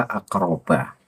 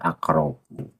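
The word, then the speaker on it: أقربَ: Kemudian an aku nalaka aqroba itu bahar membacanya akrobu. Nah, di situ salah itu Bahar. Apakah karena Bahar lupa atau gimana saya tidak tahu? Yang jelas itu salah.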